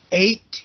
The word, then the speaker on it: eight: Eight, you want to be sure the pronunciation of eight, like you ate something.